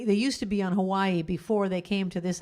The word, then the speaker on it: Hawaii: Hawaii. You're supposed to pronounce it like that. Hawaii.